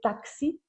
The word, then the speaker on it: táxi: Então este EX do início vai praticamente desaparecer, mas eu vou, por exemplo, dizer táxi com que, ok?